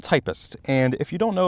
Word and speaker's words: Typst: The Typist video. First of all, this is pronounced typist like the profession, like somebody who types. This used to be a profession. It's not tipst, typest, or whatever.